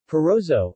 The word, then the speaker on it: Parrozzo: Feroze Oh Italian pronunciation part so or pan Rizzo pan Rizzo is a